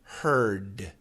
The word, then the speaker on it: heard: So, first of all, hur r t and h e a r d are the same except for the t and the d. So, hurt heard.